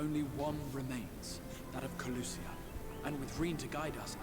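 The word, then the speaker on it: Kholusia: much of nor only one remains that of kusia and with' to guide us I am certain we will find it no kusia that's how it's pronounced we're so close now if we can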